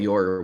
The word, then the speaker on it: Yoru: also learned is actually just pronounced Yor. But I guess Yora was how they translated it in English for some reason. I mean, it is pronounced Yoru, but I guess what